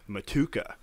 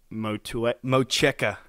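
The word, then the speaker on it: Motueka: It's the Vic Secret, Mosaic, and Matuka. Yeah. Mocheka. Mocheka. You say that some way. Well, I Googled it, and that's how you pronounce it.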